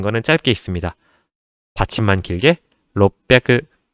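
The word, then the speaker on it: 六百: 이 롯백이라는 단어 자체가 발음하기가 조금 힘듭니다. 한국어 그대로, 한글 그대로 적었을 때는 롯백이라고 적을 수 있겠지만 이 비읍 받침을 끌어주셔야 돼요. 그래서 롯백이 아니고 롯백이 약간 이 비읍을 좀 지려 밟고 가듯이 롯백이 제가 입을 한번 앙 다물어요. 롭하고 다무는데 이 다무는 텀을 조금 주셔야 돼요.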